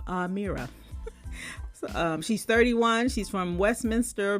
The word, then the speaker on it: Amira: They put in parentheses how to pronounce her name. Amira.